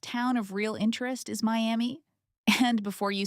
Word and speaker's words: Miami: Your first town of real interest is Miami. And before you say it wrong, it's pronounced my am here. Not like the city in Florida.